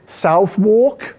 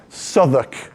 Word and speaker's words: Southwark: This is, as you would pronounce it, "Southwark," and that's how we know you're American. It's "Southwark," apparently.